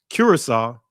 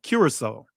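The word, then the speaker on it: Curaçao: Curacao. All right? Cuz I always butcher when I see that C, I want to say pronounce this as a hard C, but it's actually Cura- uh Cura- Curacao.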